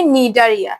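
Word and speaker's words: Cnidaria: দেখো প্রথমে সি আছে, সিটা কিন্তু উচ্চারণ হবে না, এটা হবে নিডারিয়া, সিটা উচ্চারণ হবে না, সিটা উজ্জ্ব থাকবে।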